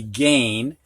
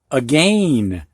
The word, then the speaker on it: again: the word again if if this word would actually follow the phonetic rule of a i making the long a sound this word right here would be gain and we'd have a gain but it's not a gain it's again so english does have